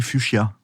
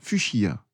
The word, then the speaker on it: fuchsia: Comment on écrit fuchsia?